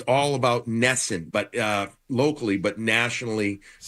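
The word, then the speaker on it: NESN: Network and this one will be on it's nessen it's all about nessen but uh locally but nationally so we hear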